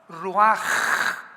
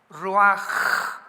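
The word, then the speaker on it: רוח: que significa espíritu y se pronuncia la ch en el hebreo como j. Ruaj, roaj.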